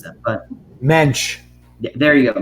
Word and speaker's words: Mensch: please tell Ben, I don't know how to pronounce that, but Mensch. Yeah, there you go, Mensch.